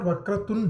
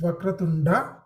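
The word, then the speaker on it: वक्रतुण्ड: It's not Vakratund, it is Vakratunda. Okay. Like I mentioned in my first session, like in Hindi, you tend to chop the last akara at the end of the word.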